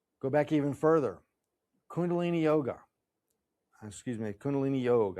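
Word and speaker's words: योग: Kundalini yoga. Excuse me. Kundalini yog. I don't like to say yoga. So you see it's in parenthesis. Yog is the Sanskrit pronunciation.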